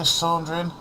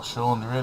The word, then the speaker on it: Chandrian: We're coming for you, Chandrian. Or Chandrian, I should say. That's how you pronounce it.